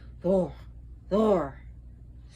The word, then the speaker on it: Thor: they will correct you so even among the north the r's were rolled so anytime you see here like the name thor would actually be thor so and uh interesting